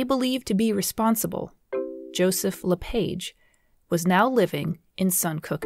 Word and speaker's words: LePage: the exception of Joseph LePage. He is most well known by the anglicized pronunciation of his name, and so that one will carry through.